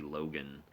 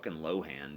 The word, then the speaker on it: Lohan: it drove me crazy he also used to call Lindsay Lohan lindsy Logan it's like it's lowan dude it's not hard Jesus just like Paul